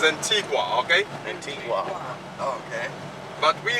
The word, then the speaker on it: Antigua: Antiga and baruda actually we say Antiga but the uh correct pronunciation is Antigua okay Antigua okay but